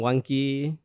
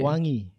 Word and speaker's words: Wangki: Bang Wangki lahir tahun berapa, Bang? Eh, Nama saya itu dibaca sebenarnya bukan Wangki sih, Ustaz. Oke. Wangi.